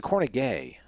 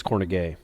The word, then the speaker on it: Kornegay: back Michael Kornegay there's the corny gay I think it's corny gay I mean it's spelled corny gay yeah alright what you